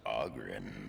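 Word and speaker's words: Oghren: The name's Auggrin, by the way, but the ladies pronounce it Aren.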